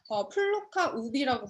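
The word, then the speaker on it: plocka upp: 이 플로깅은 이삭을 죽는다는 뜻의 스웨덴어 플로카 우비라고 발음한다고 해요.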